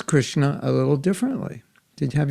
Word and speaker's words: Krishna: okay can you say krishna krishna now when i say krishna put your tongue on top of the roof when you do the s hare krishna so that